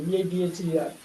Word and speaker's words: either: நம்ம எய்தர்மோ, அவங்க ஐதர்ங்கிறாங்க பிரிட்டிஷ்ல. either, ஆனா அமெரிக்கன்ஸ் வேற மாதிரி சொல்றாங்க பாருங்க.